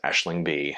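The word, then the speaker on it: Aisling Bea: Her first name is spelled Aisling, and her last name is spelled Bea. And I'm pretty sure it's pronounced Aisling B.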